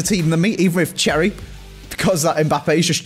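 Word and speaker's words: Cerri: I'm going to give you Cherry. How do you spell that, Andy? C-E-R-R-I-E. Like the cherries, Bateson, like Bournemouth.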